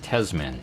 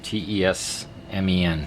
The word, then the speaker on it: TESMEN: Hello and welcome to a short video to review the, I guess it's pronounced TESMEN, T-E-S-M-E-N, TESMEN AC voltage detector.